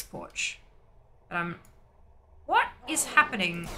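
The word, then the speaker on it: Poarch: checking that out but her last name is spelled p-o-a-r-c-h which is why i'm i think it's porch but um what is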